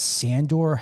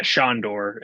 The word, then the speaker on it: Sandor: and then we've got is that sandor helderman yeah shandor yeah is how it's pronounced yes um yeah they